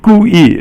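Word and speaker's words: 故意: Okay, 故意 is both fourth tone, and 故意 means basically on purpose or deliberately.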